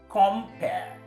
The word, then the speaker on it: compare: Now, compare is a verb with 2 syllables that means to juxtapose or to contrast between or amongst whatever it is you have in mind.